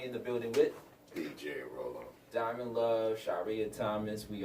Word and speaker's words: Rollen: DJ Rollin' Mix, where can they follow you? Always follow me at DJ Rollin, ROLLEN. Please pronounce it Rollin. Roll'em, not Rollin, not Roll'em, or whatever y'all say. It's Roll'em, Rollem, at Twitter, Instagram, DJ Roll'em on DJ